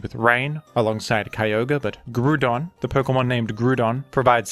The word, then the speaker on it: Groudon: And this is a Pokemon with a universally agreed-upon pronunciation. The Pokemon is named Groudon, and Groudon is absolutely excellent.